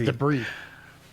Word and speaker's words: debris: the face you call you say deis one more time it's deis debris that's always been debris I cough debris motion